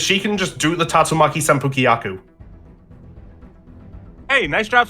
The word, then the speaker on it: Tatsumaki Senpukyaku: Jetpacks, and apparently she's a fan of Street Fighter because she can just do the Tatsumaki Senpukyaku.